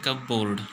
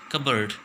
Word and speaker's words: cupboard: देखो, इसको बोलेंगे, देखो देखने में दिख रहा है CUPBOARD, इसको बोलने में तो दिखाई देगा कि इसको बोलते हैं कब बोर्ड। ठीक है, लेकिन ये गलत प्रोनाउंसिएशन है, राइट प्रोनाउंसिएशन क्या है, कबर्ड। क्या बोलेंगे, कबर्ड।